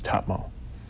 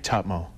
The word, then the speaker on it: Tahmoh: it's my grandmother used to say it it's TMO but it's become do that again TMO cuz it's t a m o h right yeah TMO so there's a bit of a break M